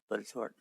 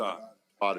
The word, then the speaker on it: Botetourt: Rail Trail versus the Bodetort? Versus the, I'm sorry? Versus the Bodetort? Botetourt. How you pronounce it? Botetourt. Botetourt, sorry.